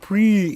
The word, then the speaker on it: Prix: are you talking about it's pronounced pre yeah well how do